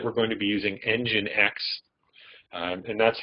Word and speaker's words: nginx: I've mentioned that we're going to be using nginx and that's how nginx is spelled n GI NX so we're going to